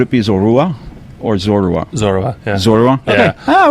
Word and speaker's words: Zorua: Zorua.